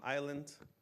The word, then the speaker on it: island: So in English, we don't say the L for salmon or the S from island.